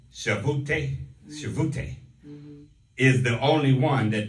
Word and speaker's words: Shavuot: feasts of the lord is pronounced shavute is the only one that doesn't have a specific date associated with it such as passover on nissan the 14.